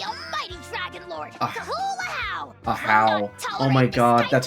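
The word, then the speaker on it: Ajaw: I just thought it was just Aja, but Ahow.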